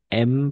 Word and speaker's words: aimes: A, I siempre va a ser E. Esta combinación de letras, en la mayoría de los casos, no siempre, pues va a ser E. Entonces será, est-ce que tu aimes, porque ES es mudo.